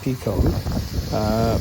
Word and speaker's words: Piko: P-I-K-O is how it's spelt, and I presume it's pronounced Pico, but spelt differently to the British Piko company, which is P-E-C-O, of course.